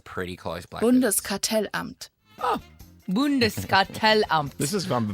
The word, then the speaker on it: Bundeskartellamt: Let's go to the pronunciation because that sounds pretty close. Blackers. Bundeskartellamt.